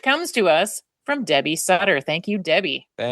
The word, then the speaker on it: Sutter: to us from Debbie Sutter. Thank you, Debbie. Thank you, Debbie. Rhymes with butter.